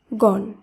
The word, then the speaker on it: গণ: শব্দ অপরদিকে আমরা জানলাম একাক্ষর শব্দে অ এর পরে যদি মধ্যান্য থাকে তাহলে অ এর উচ্চারণ অ হিসেবেই হবে তাই গ মধ্যান্য শব্দটির উচ্চারণ হবে গণ প মধ্যান্য শব্দটির উচ্চারণ